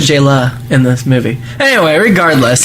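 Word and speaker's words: Jaylah: Because it's Jayla. It's Jalel. Jayla. It's Jayla. Well, J-Law. Jayla. Well, it's pronounced J-Law because it's technically his nod to Jennifer Lawrence.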